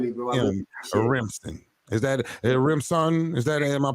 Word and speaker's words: Rimpson: you for having me bro is that a rimson is that it am I pronouncing it right you got it right man